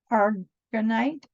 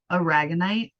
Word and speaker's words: Aragonite: kind of thing, but it is a ragonite. Almost like a rag o night. Aragonite. Yeah, perfect. Now I want to fuck with everybody and say it wrong. Aragonite.